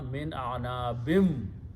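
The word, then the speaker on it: مِنْ أَعْنَابٍ: When you pronounce with the vaw, it becomes gunna, min a'nabim, of grapes.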